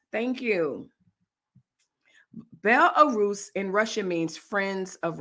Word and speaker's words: Belarus: guys uh look um triggered you with my mispronunciation bell arrows thank you bel-arus in russia means friends of russia wow saying